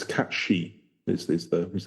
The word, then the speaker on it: Cait Sith: I think they're saying anyway whatever but it's cat she is is the is how you pronounce it so there you go um haling